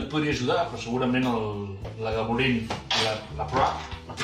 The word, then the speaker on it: Lagavulin: Un clàssic que hauríeu de saber pronunciar perfectament. Lagavulin. Lagavulin. Punt pels dos. Lagavulin.